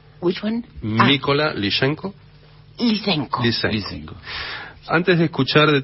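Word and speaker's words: Mykola Lysenko: Tenemos una obertura de un compositor ucraniano, Mykola Lyshenko. Así es, that's the pronunciation. Which one? Mykola Lyshenko.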